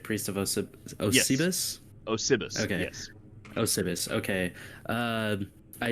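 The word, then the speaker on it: Osybus: Osibus.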